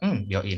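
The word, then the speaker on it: 病院: Bioin. Hai, Sekades. Bioin. Bioin. Jadi pakai bio gitu ya, bukan bio, tapi bio. Bioin.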